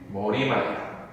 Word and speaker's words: 머리말: 발음 자체 머릿말일 것 같잖아. 근데 얘 발음은 머리말이야. 그래서 안 적어. 우리가 아무리 머릿말해도 아나운서들은 꿋꿋이 효과 머리말 하는 거야. 이해되지? 그게 표준 발음이야.